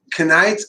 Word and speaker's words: Knight: Knight of Pentacles. The K is silent, so you don't got to worry about that if you were worried.